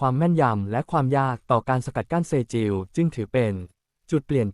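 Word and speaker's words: Sejjil: บท นำ ขีปนาวุธ เซจิล สจิล หรือ อ่าน ว่า เศษจิว ถือ เป็น หนึ่ง ใน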